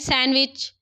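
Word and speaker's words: sandwich: हैं फाइव होते हैं व्हिच letter in the silent सैंडविच सैंडविच मैं क्या पढ़ रही हूं सैंडविच पढ़ रही हूं आपका डी मैंने खा लिया आप भी डी खा लीजिए डी खा लीजिए क्या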